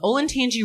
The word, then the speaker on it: Olentangy: The gates themselves are comprised of a drainage culvert carrying a stream from Glen Echo Park to the Olentangy River.